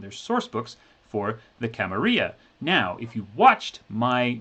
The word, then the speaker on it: Camarilla: masquerade actual play campaign on youtube where they pronounce it correctly because it's run by one of the game designers anyway camarilla so uh this book camarilla i don't have